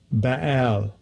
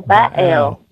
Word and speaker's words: Baal: I don't think I even pronounce it right. Strong's H1168. Baal. Oh, Baal.